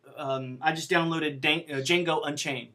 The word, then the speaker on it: Django: So in the old days, when you took a file and it was really large, like I just downloaded Django Unchained, the D is silent. Django Unchained last night.